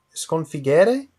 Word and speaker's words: sconfiggere: È sconfiggere con la O aperta e così è corretto.